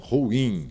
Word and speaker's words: ruim: Na palavra ruim, veja como é falada. Ruim. Nós temos um hiato. Ruim. sílaba tônica é o in.